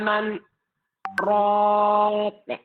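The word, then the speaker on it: مَنْ رَاقٍ: Nah, jadi sekalipun nun mati bertemu dengan ro, tapi dia tidak dibaca idgham, ya. Karena memang posisinya akan disaktah gitu. Wa qila man raq, ya.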